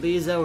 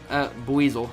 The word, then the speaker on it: Buizel: Beezo and Floatzel. Buizel.